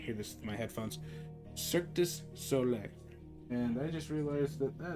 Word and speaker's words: Cirque du Soleil: And honestly, I never thought I'd say this, but I really love Circus Soleil now. Circus Soleil? Is that how you say it? Okay, I can't hear this with my headphones. Cirque du Soleil.